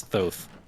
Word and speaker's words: Thoth: It's like the Greek letter that's is pronounced as TH, so it's Thoth.